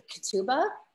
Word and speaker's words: ketubah: Years ago, I actually, and you'll have to correct me if I'm pronouncing it wrong, but the ketubah, or how do you pronounce it?